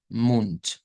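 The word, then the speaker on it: Mund: hemos tocado con anterioridad en donde vemos que termina escrita una letra d pero se pronuncia con t el ejemplo que tenemos aquí en la página vendría siendo munt munt e Pero podemos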